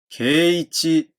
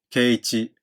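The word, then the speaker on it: 圭一: 低い高いは長母音が 2 番目の拍にある場合、高い高いと発音されます。ですので、圭一というよりは圭一。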